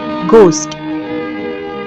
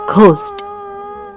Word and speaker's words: ghost: একটা কথা ভূতের ইংরেজি গোস্ট জি এইচ ও এসটি এখানে এইচ লেটারটা সাইলেন্ট বাঙালির উচ্চারণে সেটা হয়েছে ঘোস্ট এই গল্পটি বাঙালির উচ্চারণের মতোই করা হয়েছে গল্পের দ্বিতীয় পর্বের লিংক ডেসক্রিপশন বক্সে।